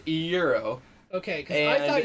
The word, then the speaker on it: gyro: the food, like the GYRO. flatbread, Oh, okay. a gyro. I'm sorry, I live in the Midwest. It's pronounced euro.